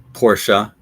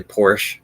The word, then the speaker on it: Porsche: is an easy one most of us know this is Porsche but other people will say Porsche which is incorrect Porsche I could see